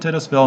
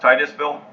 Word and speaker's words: Titusville: well in this map is it tennis ville in the wild area or the it's it's actually pronounced Titusville but it is it